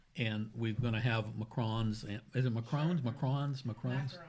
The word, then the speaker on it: macaron: and we're going to have macarons. Is it macarons? Macarons? Macarons? Macaroons. No, they're not macaroons. Macaron. Yeah. What's the French pronunciation? I think it's macarons.